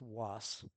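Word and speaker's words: WAAS: It's pronounced was just like boss or moss.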